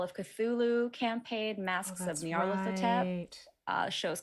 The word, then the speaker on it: Nyarlathotep: From what I've heard, how I've heard Troy pronounce it, it's Nyarlathotep. Nyarlathotep, 5 syllables. Nyarlathotep.